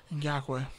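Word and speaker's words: Ngakoue: Yannick Ngokwe? Ngakwe.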